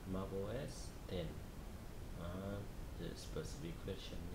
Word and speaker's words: Mac OS X: Pronounce it Mac OS 10, and the specific version names are Leon, released in 2011.